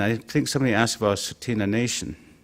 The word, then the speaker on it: Tsuut'ina: You start looking at all of that, and I think somebody asked about Tsuut'ina Nation. Proper pronunciation is Tsuut'ina.